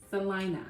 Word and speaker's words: Celina: cons of some line in Texas which is pronounced Salina Selena or Selena no oh no that's what I just said okay we're going to start with the cost of living in Salina which actually is quite low compared to some